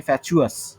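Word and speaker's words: fatuous: ফ্যাটুয়াস, ইউ ইউ ফ্যাট, আস ফ্যাট, আই ফ্যাট, আমাদের মাথা মোটা। ফ্যাট, unintelligent. ফ্যাট, ফ্যাচুয়াস, প্রোনাউন্সিয়েশন হচ্ছে ফ্যাচুয়াস, চ।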